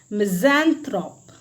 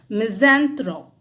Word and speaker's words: misanthrope: उनको आप कहते हैं मिज़ैंथ्रोप। क्या बोलते हैं, मिज़ैंथ्रोप, इसकी स्पेलिंग आप देख लीजिए, MISANTHROPE। इसका जो प्रोनाउंसिएशन है वो क्या है, मिज़ेंथ्रोप है।